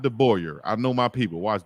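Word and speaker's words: DeBoer: Good recruiter, and he's not bad looking, and the name is not hard to pronounce. Yeah, it's De Boyer, but his first name is Kalen.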